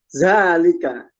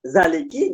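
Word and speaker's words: ذٰلِكَ: ada lam, ada kaf, sudah otomatis dia bacanya mesti zalika. Gak mungkin dibaca zaliki, gak mungkin dibaca zaliku, atau gak mungkin dibaca zaluki atau zaluku, gak mungkin. Dia mesti dibaca zalika. Nah, yang perlu diingat adalah baris dan cara bacanya.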